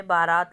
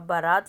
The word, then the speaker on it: बारात: है उसके बाद हमने बारात लिखा है अब बारात शब्द शुद्ध है इस इसमें जो आपकी उच्चारण है वह बरात बोला जाता है यानी कि आ की